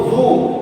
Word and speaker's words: vous: So Vu. Okay, same thing. V-O-U-S. S silent. Vu. So Vu is, see, Vu has 2 uses. One, to address to second person plural. Okay, Vu means you all.